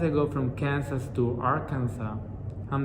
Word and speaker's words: Arkansas: wrong is are kansas i know in english i'm supposed to say arkansas but to me it's spelled the same way as in spanish and it's just like kansas by just adding art at the beginning so i'm like how